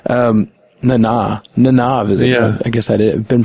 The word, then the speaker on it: Nana Visitor: It shows Nana Visitor, Nana Visitor. Yeah. I guess I've been pronouncing it wrong all these years.